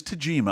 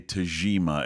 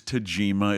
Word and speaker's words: Tagima: of the reviews online I've heard people say Tajima as if it's like a Z but I checked with Ernie Lansford and in his Tajima it's a soft G like the word garage and and I just